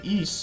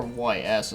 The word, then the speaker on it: Ys: it happens to be the East series or YS is what I used to call it before I knew how to say it sometimes when I'm actually